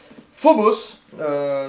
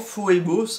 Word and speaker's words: Phoebos: Phobos, tout simplement, Phobos, hein, voilà, pour bien le prononcer phonétiquement, de Gabriel Chocan chez Angel Corp.